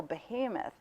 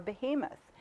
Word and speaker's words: behemoth: I said, well, some people say it behemoth. And some people, we looked it up in the dictionary, there were two pronunciations, and I said behemoth or behemoth. And I said, I think the most common is behemoth.